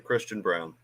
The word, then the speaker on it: Christian Braun: he missed the free throw uh basketball reference pronunciation Christian Brown foul on Jeff Oberon I mean Brown okay